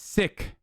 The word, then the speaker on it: Sikh: I mean, it's Sikh. That's how you say it. So shut the fuck up. It's not Sikh, right? People always say Sikh. I say Sikh, and then people say I'm wrong. So shut the fuck up. I'm saying it right.